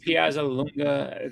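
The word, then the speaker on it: Piazzalunga: So So Patrick Piaza Lunga, that's how you say his name.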